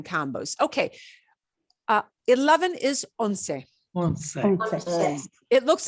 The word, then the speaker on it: once: one through ten combos okay uh eleven is onsei it looks like the english word once but it's pronounced well does it look like uno not